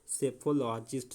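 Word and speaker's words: psephologist: हैं उसको कहते हैं सेफोलॉजिस्ट यहां पे पी साइलेंट हो जाएगा क्या होगा सेफोलॉजिस्ट सेफोलॉजिस्ट में क्या होगा चुनाव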